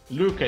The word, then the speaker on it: Luca: Luca, it's how it's pronounced. Luca, let's go for the right pronunciation there. I'm Italian, I will pronounce it right.